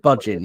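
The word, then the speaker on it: Bhajan: and it talks about Yogi ban or is what is it bin is how you pronounce it um Man created the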